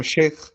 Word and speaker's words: Shaq: Am I pronounce pronunciating your name correctly? Yes ma'am. Shake.